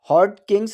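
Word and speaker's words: Hodgkin: पर है देखिए फ्रेंड्स यहां पर जी साइलेंट है ठीक है इसे हॉट किंग ही पढ़ा जाएगा ठीक है हॉट किंग्स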